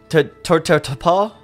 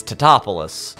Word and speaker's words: Tatopoulos: Two, people are mispronouncing Nick's name the entire movie. It's just, it's a very 90s kind of joke. Like, they're just going, oh, Mr. Tatopa? And he's just like, it's Tatopoulos.